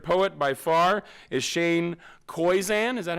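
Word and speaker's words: Koyczan: aside my favorite poet by far is shane koizan is that how you say his name yeah koizan in her free time julie anna enjoys anna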